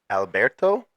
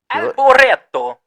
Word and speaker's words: Alboreto: I think it's pronounced Michele Alberto. Alboreto.